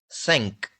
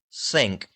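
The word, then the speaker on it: cinq: Sank. Five. Sank. Here you can see that here we have written the pronunciation how we should speak those words in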